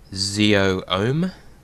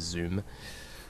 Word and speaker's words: Z00M: I guess we also discovered how to pronounce Z00M, the droid. Zeo-Ohm, instead of Zoom.